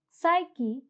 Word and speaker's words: psyche: Similarly, in the words psychology, psyche, psychotic, and pseudo, the P is silent.